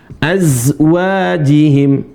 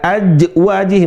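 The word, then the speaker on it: أزواجهم: azwajihim za dibaca gimana za zikan za zza kayak z teman-teman seringkiali bacanya illa ala ajwajih bukan aj ini za bukan Bukan C azwajihim.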